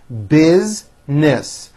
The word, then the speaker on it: business: a good idea business most Americans pronounce this word with two syllables busness her business does very